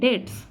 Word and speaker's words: debts: seized to pay his debts. আচ্ছা, এই যে উচ্চারণটা, নিচে শব্দটা, এটা কিন্তু DEBTS থাকলেও এই বি এর উচ্চারণটা কিন্তু হয় না, সাইলেন্ট থাকে বি, তাহলে উচ্চারণটা কী হবে, ডেটস।